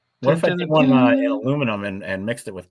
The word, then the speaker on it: aluminium: alumini copper alumin Hopper you know how they pronounce aluminum in uh in Britain aluminium Alum aluminium yeah let's